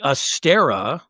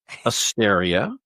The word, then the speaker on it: Asteria: It's a tricky name. There's a lot of syllables. I had you as Tracy Astera, but it is indeed Asteria.